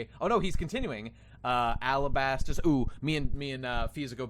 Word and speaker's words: Alabasta: At least if whether you're on Arabasta or Alabasta, I think we can all agree it's not Alabaster. Well, that's definitely true. It is not that. Not with a T-E-R.